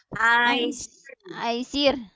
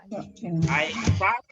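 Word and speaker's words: أيسر: Ya, ini kita membacanya Aisar. Oh, yang benar Aisar. Ya, itu artinya kita tadi antisipasi soal kecenderungan ya kita untuk membacanya karena soal mana yang terasa lebih mudah bukan berdasarkan ilmu.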